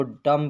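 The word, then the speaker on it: dumb: कॉम पढ़ा जाएगा इसको लम पढ़ा जाएगा इसको डम पढ़ा जाएगा और फ्रेंड्स यहां पर रम लिखा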